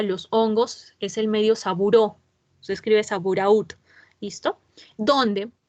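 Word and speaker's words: Sabouraud: Y el medio de cultivo para los hongos es el medio Saburó, se escribe Saburaút, ¿listo?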